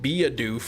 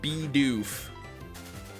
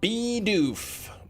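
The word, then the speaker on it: Bidoof: Then people call it like be a doof or something. He's the mouse Pokemon, not a beaver Pokemon. Yeah, that's it's weird they call it, but it's it's still pronounced beof.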